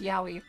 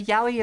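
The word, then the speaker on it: Yowie: other stores were just yaoi.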